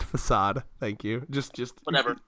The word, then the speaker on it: facade: just a flick aid right because uh it's pronounced facade thank you just just never know I'm just